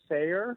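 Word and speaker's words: Sayre: of Oklahoma City in a small town called Sayer which is spelled sa Y re and it's approximately 25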